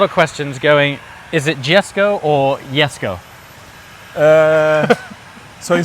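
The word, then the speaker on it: Jesko: it it's my father Yes uh yesu okay yesu there you go you've heard it first that's the Swedish way of so it's a y right okay and J or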